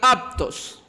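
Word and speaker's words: αὐτός: En estos versículos aparece 11 veces esta palabra, este pronombre personal, aptos. Se escribe autos, pero por la AU antes de la T se lee aptos.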